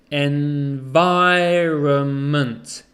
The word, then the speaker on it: environment: of the n environment we don't say the n so it's environment environment the stresses on